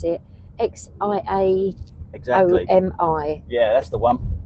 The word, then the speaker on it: Xiaomi: Sammy Lee Rose said, Exomi, I can't pronounce it. Xiaomi.